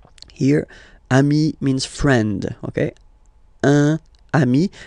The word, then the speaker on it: un ami: Okay, un ami, and then we tend to make this little link between the two. Un ami, un ami.